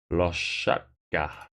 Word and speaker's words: Loshadka: It's a good point, how is it pronounced? Loshadka. Yes. Anyway, should be quite an interesting tournament.